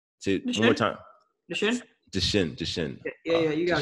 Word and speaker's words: Duchenne: Duchenne. Yeah, you got Duchenne.